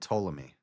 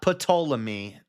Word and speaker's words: Ptolemy: Specifically, the 4 heads were Cassander, Lysimachus, Seleucus, and Ptolemy, who inherited Alexander's domain after his death. Not Ptolemy. Freddie. If Freddie's here, he always says Ptolemy. The P is silent.